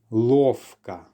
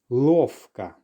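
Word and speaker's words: ловко: Now you may have noticed with this word here that I'm actually pronouncing the V more like an F. Listen again. Lovka.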